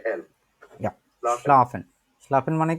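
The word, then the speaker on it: schlafen: প্রিয় একটা কাজ না স্লাফেন কে কে এটার উচ্চারণ করতে চান হ্যান্ডেস করেন মনিটর হোসেন ভাই বলেন তো সাইফেন হয় নাই স্লাফেন স্লাফেন হ্যাঁ স্লাফেন প্রত্যেকটা অক্ষর বাই অক্ষর উচ্চারণ করেন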